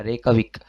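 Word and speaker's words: Reykjavík: यहाँ पे जे जो है वो साइलेंट होगा, रेकाविक। तो 16 का डी ऑप्शन है जी रेकाविक।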